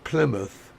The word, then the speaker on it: Plymouth: Villages which we would we don't pronounce it mouth even though that's what it comes from it's you know it's